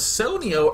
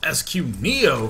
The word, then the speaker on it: SQ Neo: And down in the bottom right, I said his name was Sonio earlier, but apparently I am illiterate. Q is oftentimes not pronounced like O. It is SQ Neo from Team AMD, hoping